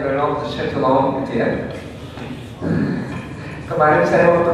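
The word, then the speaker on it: Renaud de Châtillon: Terus penjahatnya namanya Reynaud de Chatillon, bacanya Reynaud de Chatillon gitu ya.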